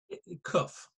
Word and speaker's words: qof: I see you smiling how did the Ashkenazi's pronounce it cuff cuff and the same